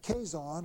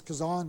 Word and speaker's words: Kazan: Lenin's revolutionary career began while he was at the University of Kazan, or I'll pronounce it that way, it's Kazan maybe, K-A-Z-A-N, when he became a devotee of Karl Marx.